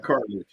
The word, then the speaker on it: Carthage: Carthage.